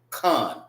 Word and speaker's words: Khan: Most people will look at that and say can. This is not can. This is actually con.